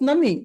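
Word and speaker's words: നന്ദി: Hey, how do you say this in Malayalam? Nandri as well. Nandi. Tamil Nandi. is Nandri. Nandri. Ah, Malayalam is Nandi.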